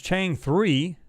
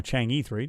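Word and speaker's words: Chang'e 3: Pawns Game, you said ever since Chang 3, or Chang E3, depending on how you want to pronounce it, found something seems like everyone is rushing to get there.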